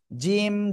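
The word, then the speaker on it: ج: তাহলে আমরা কি করব জিম অক্ষরটা উচ্চারণ করব জিহ্বার মধ্যখান তার বরাবর উপরে তালুর সাথে লাগিয়ে ঠিক আছে জিম জিম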